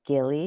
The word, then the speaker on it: Gilly: And am I pronouncing your name correctly? I just Thank you. realized. Thank you. It's Gilly, actually. Gilly.